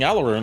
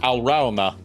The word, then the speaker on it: Alraune: It's a German word. It's pronounced Alrauna.